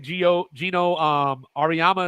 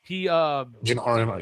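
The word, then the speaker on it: Geno Auriemma: Gino Ariyama, is that how you say it? Gino Ariyama, yeah.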